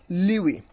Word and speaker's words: lewe: So it is LEWE, Liwi.